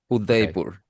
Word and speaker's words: Udaipur: I mean, pronounced as say the whole name. Udaipur. Udaipur.